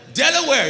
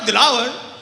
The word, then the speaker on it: Delaware: got up to only to realize she meant Utah Ohio North Dakota South Dakota and Delaware yeah not delaw so when people say